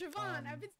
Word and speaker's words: Siobhan: Like Siobhan. It's like Siobhan or something. Siobhan. It's Siobhan.